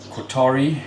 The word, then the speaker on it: Kotare: Qatari, I believe, is the correct pronunciation.